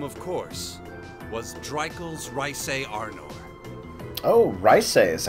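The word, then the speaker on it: Reise: and that name of course was dry coals rice AR nor Oh rice a is how you pronounce that hello it's called a Therese uh-huh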